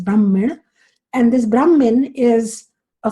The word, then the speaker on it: Brahmin: which means Supreme reality this is Brahmin b r hm n or the Sanskrit pronunciation is Brahmin and this Brahmin is